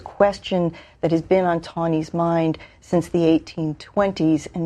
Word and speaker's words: Taney: Now, people are going to look at that name and always want to pronounce it Taney, but the common pronunciation is Taney, correct? I think Taney is correct.